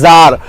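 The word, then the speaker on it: tsar: जार, ये क्या होता है, इसको इसका प्रोनाउंसिएशन क्या है, जार है, क्या है, जार, राजा, रशिया का राजा, है ना।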